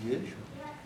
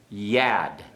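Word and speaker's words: יָד: You pronounce it Yid? Yad. Yad. Okay? The comment shortens to a pathek, so it's yad.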